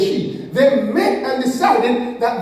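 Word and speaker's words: Xi: They actually met, she and all them, they pronounce it as she.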